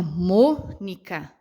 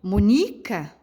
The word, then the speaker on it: Mônica: Automaticamente, tanto pelo acento quanto pela minha pronúncia, eu sei que a sílaba mais forte é o Mônica. Ah, professora, mas eu não acho que é o mu, eu acho que é o ni. Olha só, se eu fosse pronunciar a sílaba mais forte da palavrinha Mônica no ni, ficaria Monica, né? Não combinaria, não ficaria legal.